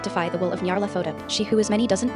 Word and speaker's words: Nyarlathotep: There's no official way to pronounce that name since it's a made-up nonsense word, but I prefer Nyarlathotep. Whatever, say it however you want to say it, and don't feel embarrassed.